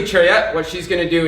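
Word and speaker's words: 차렷: first all right so attention in Korean pronounced trick all right so when I say TRAI what she's going to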